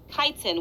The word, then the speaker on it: chitin: And yes, that says chitin, everybody. Don't pronounce it any other way.